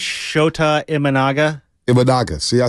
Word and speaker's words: Imanaga: and what's the guy uh in Chicago IMA imaga am I I don't even know if I'm pronouncing that properly iaga IA save that for